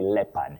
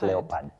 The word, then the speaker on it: leopard: That's when you'll hear things like leopard and you say leopard, but then you realize that the O is silent. You say leopard, not leopad.